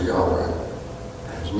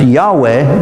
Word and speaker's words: Yahweh: So the word Jehovah can also be pronounced Yahweh, depending upon where you put the vowels.